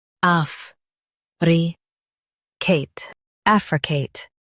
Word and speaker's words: affricate: Africate. Stress AF and say Kate clearly.